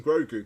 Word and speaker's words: Grogu: The great thing is, you're pronouncing Grogu correctly.